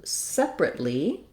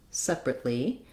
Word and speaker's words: separately: rooms and then when I'm changing to separately the adverb I just add one more syllable so then I would have separately again first syllable stress no sound for that uh a a little bit of awah and then I add the tense e sound at the end Le rly separately uh